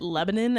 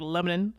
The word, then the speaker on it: Lebanon: My hometown, everyone says it Lebanon. I think that's just like it's spelled Lebanon. It's spelled Lebanon. It should be pronounced Lebanon, but these are like, it's central Indiana people from a small hometown, so they just kind of like Lebanon.